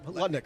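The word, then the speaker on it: Lutnick: well how'd that work last time uh Mr letnik letnik sorry thank you for the pronunciation correction yeah Howard letnik caner Fitz Gerald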